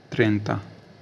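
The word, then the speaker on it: trenta: बोलते है टी आर ई एन टी ए त्रता त्रता मतलब होता है 30 ठीक है 30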